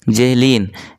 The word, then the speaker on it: Zahlen: Spelling पे आप ध्यान देंगे, इसका स्पेलिंग होता है ZAHLEN, जेहलीन।